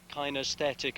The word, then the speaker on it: kinesthetic: This is part of what's called kinesthetic awareness. That's how it's supposed to be pronounced.